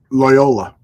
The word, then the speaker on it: Loyola: Loyola.